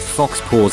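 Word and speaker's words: faux pas: like so far right it's pronounced Fox pause actually slashes law you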